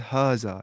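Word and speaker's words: هذا: Hada and ज़ालिका are pronounced as हाजा एंड ज़ालिका respectively, ना हादा ज़ालिका, बट are written without the अलिफ।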